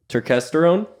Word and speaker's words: turkesterone: But you guys, so kind of to dig into a specific one, turkesterone, that's how you would pronounce it?